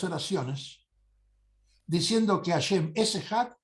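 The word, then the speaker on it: אחד: Ejad. Uno, que pronuncia en hebreo Ejad.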